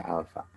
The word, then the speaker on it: alfa: Ya, dibaca alfa.